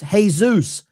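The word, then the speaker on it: Jesús: In Spanish, Jesus is pronounced Jesus.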